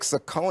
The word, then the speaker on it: Saccone: It's ironic to me that the word in Washington is that Rick Saccone, is that how you say it, Saccone?